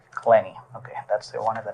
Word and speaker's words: Clenney: right and your last name how do you pronounce it clenny clenny okay that's the one that I need needed